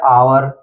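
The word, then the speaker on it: hour: पहले यहां पर एच आया है इसलिए ए साइलेंट है सीधा पड़ गया ऑनेस्ट यानी ओ से पढ़ा गया ऑनेस्ट इसी तरह है आवर इसी तरह ऑनर फिर है इको तो इन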